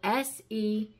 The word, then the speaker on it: sequoia: And the 10th and final most beautiful word in the dictionary, it is a noun, and it is spelled S-E-Q-U-O-I-A, and it is pronounced sequoia.